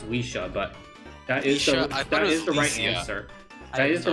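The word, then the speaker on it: Lisia: Who is Licia? Yeah, I will accept that. I think it's pronounced Weesha, but that is Leisha?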